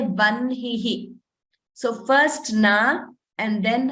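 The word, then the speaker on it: वह्निः: First n is heard, and then ha is heard. We don't pronounce it as hna. We don't say vahnihi. We say vanhihi.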